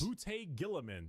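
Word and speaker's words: Roboute Guilliman: Rabute Gilliman.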